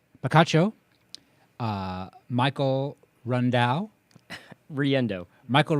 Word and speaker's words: Riendeau: I'll try to pronounce this correctly. Picacho. Michael Riendeau. Michael Riendeau.